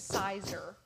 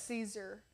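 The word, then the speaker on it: Siser: She says Sizer. She does say Sizer. Is it Caesar? It's Caesar.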